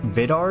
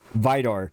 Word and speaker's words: Vidar: thing I say is the correct pronunciation of Vidar yet for some reason I always second-guess myself and never go over my instincts because of this further duration of this video You're Gonna See Me pronouncing it the second way I'd said it which is the wrong way Vidor yes I know I'm